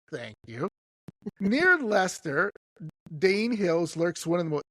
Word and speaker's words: Leicester: Leicester, how do you pronounce that? Lester. Lester, thank you. Near Lester, Dane Hills lurks one of England's most chilling